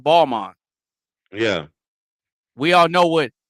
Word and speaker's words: Balmain: Just like we all know what Balmain is, but it's actually pronounced Balmain.